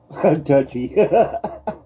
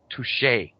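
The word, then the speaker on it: touché: to them either way touy no no no that that's pronounced touche oh okay toui touche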